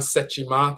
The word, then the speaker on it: Sekhmet: She's Sekhmet in Kemet, or Sechimet in Akan, Sechima, that's how it's pronounced.